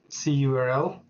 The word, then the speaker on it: cURL: it will be using C URL or curl depending on how I want to pronounce it but it will just